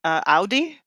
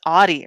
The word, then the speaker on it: Audi: And also how they pronounce Audi. Why they? It's Audi, right?